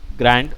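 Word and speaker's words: Grande: अब इसका नाम है आइसक्रीम ग्रांडे, या ice cream ग्रैंड, sorry ग्रांडे generally Spanish term हो जाता है, तो ये आइसक्रीम ग्रैंड है, ई जो है वो साइलेंट है।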